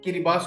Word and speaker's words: Kiribati: कभी नहीं सुना होगा इसका नाम का स्थानीय उच्चारण किरी बास होता है किरीबाती की दुर्दशा ध्रुवीय